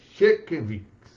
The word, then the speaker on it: Sienkiewicz: Sienkiewicz, pronúncia mais ou menos essa.